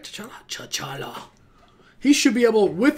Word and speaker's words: T'Challa: T'Challa.